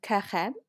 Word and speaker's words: Carême: How do we pronounce his last name? Carême, carême.